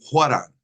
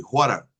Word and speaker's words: 화랑: 원효, 율곡, 중근, 퇴계, 화랑, Bien, como ven, dice Twege y Huaran. Twege y Huaran. Es la pronunciación correcta, según el hijo del fundador, como coreano, claro que es, pues pronunciando.